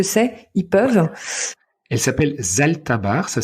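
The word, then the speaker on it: Zalthabar: regarder ce que c'est ils peuvent elle s'appelle Zalta barre ça s'écrit Z a l T H a B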